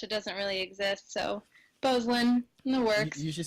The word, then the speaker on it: Beuzlin: So in French, I mean, it's like 12 letters long, but we only use like 6 of those letters. So it's pronounced Beuzlin.